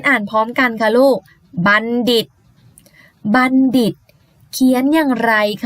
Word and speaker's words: บัณฑิต: นอน นี่ นะ คะ ตัว ทอ ตัว นี้ ไม่ อ่าน ออก เสียง เป็น ทอ นะ คะ แต่ อ่าน ออก เสียง เหมือน นั่น เอง ค่ะ บัณฑิต มี คำ ต่อ ไป